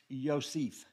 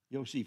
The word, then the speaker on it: Yosef: the chronology of Joseph the Hebrew word is pronounced Yosef Yosef y-o-s-e-f and the long over the long e